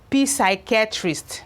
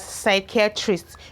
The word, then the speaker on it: psychiatrist: When PS begins a word, the P is usually silent.